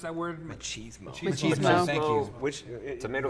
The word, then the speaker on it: machismo: I mean, instead of it being just exhausting, what's that, like machismo? How do you pronounce that word? Machismo.